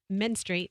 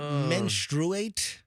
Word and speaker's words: menstruate: I mean, as the woman in the room, you can, you know, menstrate while you're um pregnant. Well, you can. How did you pronounce that? Menstrate. Isn't it menstrruate?